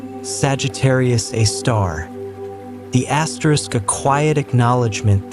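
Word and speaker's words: Sagittarius A*: Its name is Sagittarius Aar, pronounced Sagittarius, a star.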